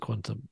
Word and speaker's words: qntm: called Quantum qntm umh presum pronounce it quantum um and it's a